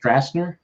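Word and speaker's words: Stracener: Josh Strackner. Strackner. Yeah. I believe it's pronounced Strassner.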